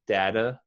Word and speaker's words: data: data is more common data might be a little more common in the united states but i have also heard data and it's also accepted it's funny that you